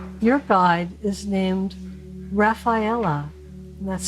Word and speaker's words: Raffaella: If you pick number 9, your guide is named Rafaela, and that's spelled Raffaella, Rafaela.